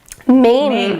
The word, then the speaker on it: Mame: How do you pronounce this? Mame.